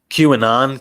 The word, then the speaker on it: QAnon: How do you say it? QAnon, Q- anonymous. Yeah.